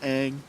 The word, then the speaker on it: Aang: Didn't they like make up new like how to pronounce the names? Like it was, didn't they call? called him Ong. Yeah. in What the movie hell is that? Instead of Aang.